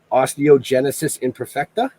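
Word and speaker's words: Osteogenesis imperfecta: And I'm going to butcher the fuck out of this. Osteogenisis Imperfecta?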